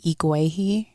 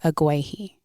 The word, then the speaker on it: Iguehi: And that just, so instead of saying Iguehi, right, because that's my name, I would say Iguehi. Because it just felt less strong. Okay. You know? and oftentimes people would mispronounce it Iguehi.